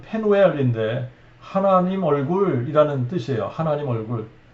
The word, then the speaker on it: 브니엘: 그때 비로소 야곱이 자기가 씨름하던 그분이 하나님이 사람의 모습으로 나타나셨었다는 것을 알게 되고 그곳 이름을 브니엘의 원래 발음은 페누엘인데 하나님 얼굴이라는 뜻이에요.